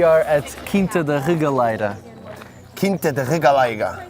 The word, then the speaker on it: Quinta da Regaleira: Quinta da Regaleira. Well pronounced, by the way. Portuguese, man. Thank you.